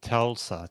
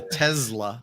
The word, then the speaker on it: Tesla: know somebody's commenting here many people say Telsa but I've never heard that no they don't I hear it with the Z the Tesla Tesla yeah it is not Tulsa right yeah yeah I